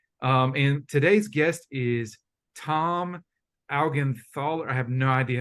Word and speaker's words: Augenthaler: pronounce your last name my last name is pronounced augenthaler I got it right I said ogenthaler okay cool Tom ogenthaler